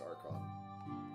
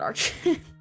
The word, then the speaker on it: archon: just had to ask is it archan or archon I'm pretty sure that's archon archon I I pronounce it archin okay sorry uh her